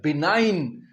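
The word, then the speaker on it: benign: पहला है बिनाइन।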